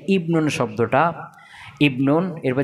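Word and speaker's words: ابن: বা ইবনাতুন এটা হামজা ওয়াসল এটা শুরু থাকলে ইবনুন উচ্চারণ হবে কি হবে আর যদি মধ্যেখানে হয়ে যায়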